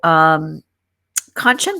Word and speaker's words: Kanchan: So Kanchan was very awesome in that she said to remember the word luncheon, that rhymes with Kanchan.